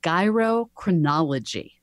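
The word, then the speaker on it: gyrochronology: this technique which is gyro chronology so term just like gyroscope I the the idea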